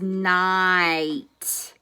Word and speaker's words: night: so this word is night I hear that I hear the H and the T but I don't hear that G so this special sound